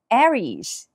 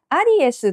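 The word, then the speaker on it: Aries: たりしますがアリエスはローマ字読みですね英語はエリーズエリースとなります最初の A は A ですベシャっとしたですねもう絵に近いかなエリーズでもいい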